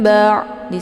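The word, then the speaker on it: بَعْدِ: Ba di sini ada ain sukun ya. Cara bacanya dialirkan setengah. Jadi jangan langsung ditekan ya. Nah, ini bacaan yang salah kalau misalkan ditekan langsung. Ba'di ya.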